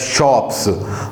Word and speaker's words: scop: And those people, those bards who performed that oral songs, they were called shops, SCOPS, that is pronounced as shops।